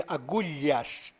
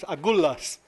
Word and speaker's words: Agulhas: The Portuguese way of speaking, Agulhas. The English pronounce it Agulhas. But it's a Portuguese name, so I pronounce it the way the Portuguese used it.